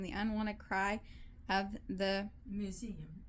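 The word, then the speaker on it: muezzin: Minarets dotted the skyline, and to her ears came the unwanted cry of the museum. Spell it.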